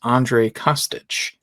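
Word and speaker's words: Andrej Kostić: guide and it is Andre Costich. Costic. So, it's a soft O. Yes. And no J. It's a silent J.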